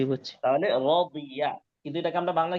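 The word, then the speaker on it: رضي: তাহলে এই শব্দটা হচ্ছে রদিয়া, উচ্চারণ কি? রদিয়া, রদিয়া, রাদিয়া। রদিয়া। নরমালি রাদিয়া। দিয়া বলে না, রদিয়া, একটু মোটা করার চেষ্টা করতে হবে।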